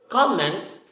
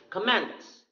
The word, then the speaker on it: comment: record noun record verb next comment comments means the message itself but if the stresses in the second syllable comment it means the act of commenting it's the uh it's